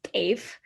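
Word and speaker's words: teff: know dave dave is it's tff we pronounce it as dave so dave is an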